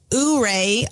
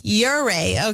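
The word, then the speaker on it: Ouray: now a lot of people tend to say uray or something crazy but it's uray okay another mispronounced word given to us by Mary is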